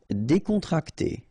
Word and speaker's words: décontracté: Décontracté. Okay, so you've got accent aigu here and here, so it's E. Décontracté. Okay, décontracté.